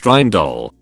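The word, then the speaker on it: Rijndael: demon and vincent ridgeman the name richard deal pronounced reindol more or less is derived from the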